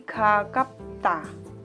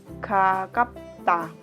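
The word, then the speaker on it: 가깝다: Jadi ini kalau dibaca suaranya menjadi gakapta. Gakapta.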